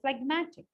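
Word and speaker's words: phlegmatic: how would it sound but when I say fmatic I don't say fmatic I say fmatic I do say the J there because it is easy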